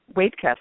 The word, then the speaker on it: Waitkus: Waitkus. Wait before you cuss is how my father-in-law told it to me.